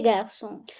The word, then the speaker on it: garçons: That means the pronunciation will remain same whether it is singular or it is plural. Let's see. Le garçon les garçons.